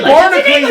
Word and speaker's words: Barnacules: I say Barnacles. It's spelled Barnacules.